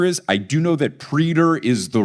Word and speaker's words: praetor: First up, praetor, he calls it preter.